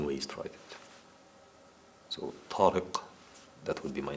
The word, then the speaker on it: Tarik: to write it so tarik that would be my name in Arabic Tariq the first letter of my name doesn't exist in English it's not a normal team it's tall so pronounce of different so you can write